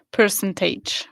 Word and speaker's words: percentage: Percentage. Ok, cuidado con la pronunciación. Percentage. Percentage. No age, pero age. Percentage. Eso es. Con lo mismo que average. Average.